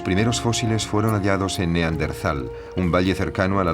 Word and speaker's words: Neandertal: A lo largo de los años el nombre se escribió y pronunció de diversas maneras, en razón de su origen alemán, si bien hoy en día se tiende a aceptar Neandertal, prescindiendo de la H que seguía a la T.